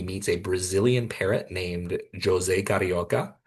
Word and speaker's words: José: He meets a Brazilian parrot named José Carioca. Um, yes, it's Portuguese. The J is pronounced in the name.